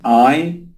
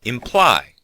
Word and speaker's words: imply: And as you can hear, the stress is on the second syllable. Imply. Sometimes students put the stress on the first syllable and say imply, which sounds strange.